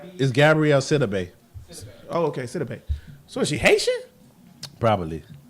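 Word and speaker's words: Gabourey Sidibe: The chick who plays, yes, Gabrielle Sibi is a great actress. And you She still is a said her good name wrong.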